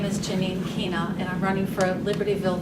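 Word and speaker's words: Chyna: Okay, my name is Janine Kina, and I'm running for Libertyville Village Trustee. My last name is spelled C-H-Y-N-A, and everyone asks what that is,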